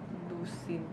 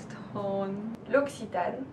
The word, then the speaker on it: L'Occitane: Lusitan. L'Occitane.